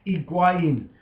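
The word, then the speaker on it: Higuaín: Higuain.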